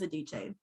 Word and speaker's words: Adichie: I know how to say Adichie. Her last name is Adichie.